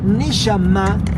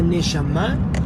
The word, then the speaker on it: Neshama: Neshama se escribe N-E-S-H-A-M-A. Neshama.